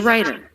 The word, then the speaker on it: writer: which is an r the w is silent in this word she's a writer she's a writer what's